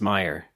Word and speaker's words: Meier: But is it Meyer? I've been saying Meir. It's Meyer.